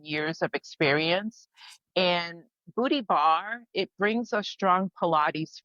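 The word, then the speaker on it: barre: say it again booty bar love it booty bar what's what's booty bar all about so bar is spelled of course b a r r e like your ballet bar and it's by Tracy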